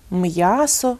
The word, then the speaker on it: м'ясо: Звичайно, кожен, хто володіє українською мовою, любить її, шанує, вимовить правильно – м'ясо, в'язати, п'ять, м'яч тощо.